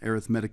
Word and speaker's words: arithmetic: Okay, and arithmetic in this case, it's pronounced a little bit funny because it's an adjective rather than a noun.